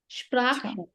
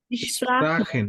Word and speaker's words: sprechen: স্প্রাখেন, স্প্রাখেন, সবার কাছ থেকে শুনি নাই। বুঝতে পারেন এই শব্দটা। স্প্রাখেন, স্প্রাখেন, প্রাকেন, স্প্রাখেন, এই যে বানান করেন আপনি ইংলিশের মতো, SPRA কি হয়?